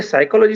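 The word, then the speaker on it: psychology: ऐसी स्थिति में मुझे साइकोलॉजी शब्द जब पढ़ाना है तो बच्चों को बताना पड़ता है कि पी साइलेंट है।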